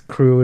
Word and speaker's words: Krewe: His crew in New Orleans, they were what were they called? The Crew of Destruction, but it was spelled like Mardi Gras Crew with KREWE.